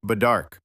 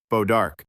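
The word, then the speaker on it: bois d'arc: They referred to it as wood of the bough, or badark. The pronunciation would be muddled by American settlers into something more straightforward, bodark.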